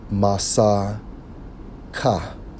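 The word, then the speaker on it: מַסֵּכָה: Covering in the Hebrew, Strong's H4541, pronounced as Masa Ka. Masa Ka, which means a covering web woven stuff.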